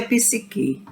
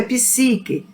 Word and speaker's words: psique: me perguntou a professora Essa palavra não é psique é psique porque a palavra Latina em latim nós não temos palavras oxítonas elas são paroxítonas viu como são paroxítonas a pronúncia correta em Latim é psique mais nada contra quem